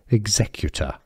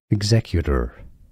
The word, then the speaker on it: executor: The stress is on the Z syllable, the second syllable, executor. Now in American English it's similar, just that they use a flap T that sounds like a D. Executor, executor, and the R is pronounced in American English, so executor or executor.